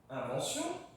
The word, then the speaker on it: invention: a donc innovation invention après mon n il y a un V consonne donc pas invention invention 1 tu vas le prononcer vraiment comme le chiffre 1 1 ok c'est